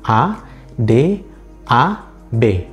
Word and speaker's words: adab: Berdasarkan sistem grafemis bahasa Indonesia, kata ini ditulis dengan huruf A, D, A, B. Adab. Tetapi dia tidak dilafalkan sebagaimana huruf B, tetapi diucapkan seperti huruf P.